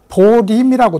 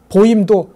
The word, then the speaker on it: 保任: 보호할 보자에 맡길 임자인 우리말로는 이것을 보림이 읽어요 그니까 보림이 읽는 이유는 어 불교의 독특한 한자 독법이 따로 있습니다 예를 들어서 도장을 도량이라고 읽고 방을 방이라고 읽고 보재 보리라고 읽어요이 이렇게 읽는 이유는이 발음이 중국어 발음에 더 근접하기 때문입니다 그러니까 당시의 유학자들은 유학